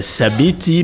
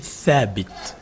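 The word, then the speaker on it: Thabit: sabti oui ok donc sabit mais bon c'est c'est c'est en arabe en arabe la bonne prononciation c'est fabit donc quelelque chose qui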